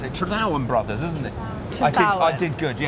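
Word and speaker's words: Trethowan: How do we pronounce it? Tredowan Brothers, isn't it? Tredowan. I did good, Tredowan.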